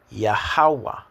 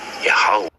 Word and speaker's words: Yahweh: back to front, no, the short 7, which is known as Wa. So like here for how to pronounce things. And the M with the space again next to the W is Ha. So when you put it together, really and truly, this is what you get. Yahweh, which is exactly what